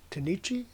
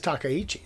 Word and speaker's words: Takaichi: Tanichi, is that her name? What is her name? Takaichi? Takaichi? I think it's Takaichi is how you pronounce that.